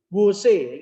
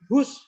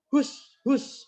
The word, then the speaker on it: whose: Wose, ini macamnya duduk wose, tapi whose. Kayak kamu mau ngusir ayam. Whose. Nah, itu bacanya adalah whose, bukan wose.